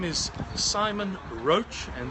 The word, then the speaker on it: Roche: My name is Simon Roche, and that's spelled like the medicine brand, R-O-C-H-E, Roche if you prefer, R-O-C-H-E.